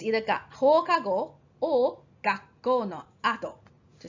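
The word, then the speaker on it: 後: Ato or ushiro. When you pronounce it as ushiro, then it's behind. If it's ato, it's after.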